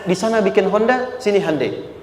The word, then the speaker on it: Hyundai: sana bikin Honda sini hundai Hyundai kan dibacanya hundai ya kan sana Honda